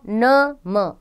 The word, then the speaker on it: नमः: प्रयोग कर रहे हैं विसर्ग इसका उच्चारण ह की तरह होता है इसका चिन्ह दो बिंदियां के रूप में लिखा जाता है जो वर्ण के बाद लगाई जाती है जैसे अतः प्रातः नमः आदि हिंदी भाषा में